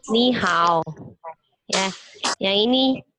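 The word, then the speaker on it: 你好: Ini bacanya ni hao. Ya, yang ini ni hao.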